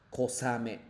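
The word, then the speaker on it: 小雨: Skoshi-ame, pero la forma de leer nada que ver con skoshi-ame, sino kosame.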